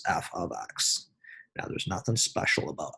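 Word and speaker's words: f(x): the f within parenthesis with the x is pronounced f of x now there's nothing special about f could you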